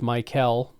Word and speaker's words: Mykel: The name is pronounced Mykel, just confirming that.